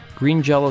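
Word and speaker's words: Green Jellÿ: Green Jello soon changed their name to Green Jelly, with an umlaut above the Y, while still pronouncing their name Green Jello.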